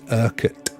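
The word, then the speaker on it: Urquhart: um that castle that you're seeing there is erket Castle spelled with a Q as you can see it's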